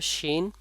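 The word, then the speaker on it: ش: আপনারা বারবার দেখে পড়বেন শিনের মাখরাজ হলো জিহ্বার মধ্যখান উপরের তালুর সাথে লাগবে জিহ্বার মধ্যখান কোথা থেকে লাগবে উপরে তালুর সঙ্গে লাগবে যেমন শিন তাহলে কি শিন কোথা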